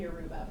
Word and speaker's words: Yoruba: You can pronounce it 2 different ways, Yoruba and Yoruba.